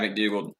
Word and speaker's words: McDougald: You look at Bradley McDougald. Is that how you say it? Yeah, McDougald.